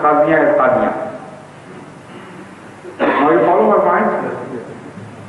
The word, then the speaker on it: Qadian: Because all scholars of old time would have pronounced Qadian as Qadian.